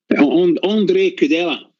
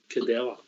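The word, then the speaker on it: Ondřej Kúdela: People have been impressed with your pronunciation. Andre Cadella. Cadella.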